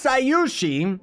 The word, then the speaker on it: Scyushi: My name's Scyushi.